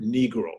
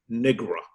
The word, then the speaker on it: Negro: Often he would come on the radio and never be able to seemingly pronounce the word Negro. He would say Negra.